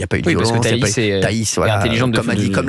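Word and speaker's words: Thaïs: Mais Taï a bien fait de rappeler qu'elle veut pas que ça soit Taï. Pas Tis. Taï.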